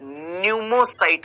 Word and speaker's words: pneumocyte: क्योंकि बेटा न्यूमोसाइट को जब हम इंग्लिश में लिखते हैं तो पी आता है, PNEUMOCYTE। ठीक है, पी साइलेंट होता है, आपने सुना होगा, है ना। तो ये न्यूमोसाइट में पी आता है